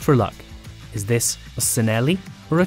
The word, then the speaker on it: Cinelli: one more just for luck is this a cinelli or a chinelli unlike bianchi the sea is hard so this famous brand should be pronounced chaneli there's probably a whole load more and i'm